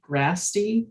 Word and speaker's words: Gratsy: I'll call the case of 123309, City of Wichita versus Gratsy. Did I pronounce that correct? Yes, Your Honor.